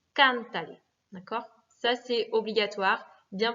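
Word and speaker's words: cántale: Donc, pour conserver l'accentuation sur can, il va falloir remettre un accent écrit. Cantale.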